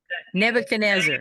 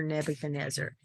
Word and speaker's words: Nebuchadnezzar: I don't know how to pronounce that word, Melody. Nebuchadnezzar.